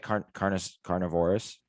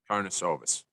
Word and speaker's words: Karnisovas: Carnivorous? Karnisovas. Carnisovas?